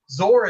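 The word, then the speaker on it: XOR: where asius came from zor is actually one way to pronounce the exclusive or logic function which i picked because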